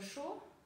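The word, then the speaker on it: chaud: Вы знаете слово «шо», а горячая в женском роде «шод».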